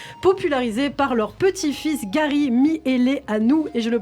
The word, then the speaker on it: Mihaileanu: Roger et Liliane, les grands-parents stars d'Internet, popularisés par leur petit-fils Gary Miele Anou. Et je le prononce bien à présent.